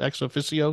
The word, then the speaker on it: ex officio: Is that how you pronounce that? Ex officio?